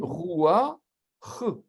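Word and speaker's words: רוּחַ: On va prononcer d'abord la voyelle et puis la consonne. On dit roua, ch.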